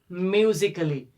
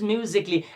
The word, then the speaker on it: musically: Most of students pronounce it romantically, musically. This is not romantically, this is not musically, this is romantically, this is musically. It's because the letter A is silent in this word.